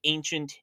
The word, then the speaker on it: ancient: You know what I hate about the word ancient? It's pronounced with a t sound.